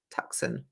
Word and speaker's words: Tucson: Tuscan. Is that how it's said? Tucson, Yeah.